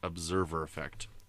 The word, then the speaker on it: Observer Effect: And I said it right, Observer Effect. For some reason, I always want to say Observer, like with a B instead of a V, but, that's okay.